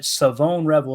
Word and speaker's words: Shavon Revel: We got to get used to saying that, right? Savone Rebel is how you say his name.